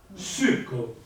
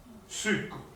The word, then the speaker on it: succo: Succo, l'accento tonico è la U. Succo.